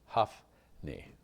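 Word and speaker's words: Hophni: But I will give it to you in the pronunciation. This is a good one. Humpney. It's K-H-O-F. Huffney.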